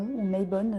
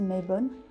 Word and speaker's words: Mabon: je suis pas croyante ça s'appelle mabon my bones j'ai cru comprendre qu'on pouvait prononcer aussi mes bonnes et c'est une fête